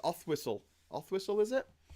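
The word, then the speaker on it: Oswaldtwistle: Othwhistle, is it? It's written Oswald Whistle, but it's Othwhistle.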